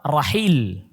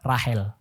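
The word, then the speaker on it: راحيل: Yang kedua Rahil. Bahasa Arabnya Rahil. Bahasanya orang sekarang Rahel. Jadi kadang pengucapannya beda. Orang Arab nyebutnya Rahil. Orang kita nyebutnya Rahel. Atau orang Barat nyebutnya Rahel.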